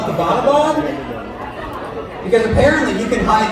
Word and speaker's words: Abbottabad: And she was like, yeah, and it's not pronounced Abbottabad. You're from there? All right, yeah. And I was like, oh, well, how do you say it? She was like, yeah, Abbottabad, right?